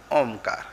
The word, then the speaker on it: ओम: यही वो अनुस्वार है और इसको जब हम उच्चारण करेंगे तो मुंह बंद करना करना पड़ेगा। मुंह बंद करके तब नाक से स्वर निकलेगा। ओमकार ओम के ऊपर जो बिंदी है वो यही है।